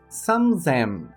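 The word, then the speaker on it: 三千: Para o número 3000, sanzen. Sanzen. Com a letura C aplicando o tenten, alterando sua pronúncia para Z.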